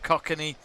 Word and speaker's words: Kokanee: Roberts has said absolutely we'll send a case of Kokanee. We'll be in touch. It's pronounced Kokanee. Kokanee.